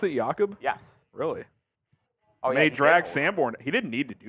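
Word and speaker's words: Jakob: former fullback for the is that how they pronounce it yakob yes really made drag sandorn he didn't need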